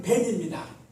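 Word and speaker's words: בן: 히브리어 아들은 벤입니다. 타고 다니는 벤이 아니라 벤이에요.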